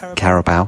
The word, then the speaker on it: Carabao: Carabao. Carabao. Because Carabou's like some Canadian yak, isn't it? It's not that.